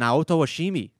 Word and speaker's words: Naoto Oshimi: be made by its creators Yuji Naka and Naoto Oshimi. During its development... Did you have to say it that way? I just pronounced it correctly.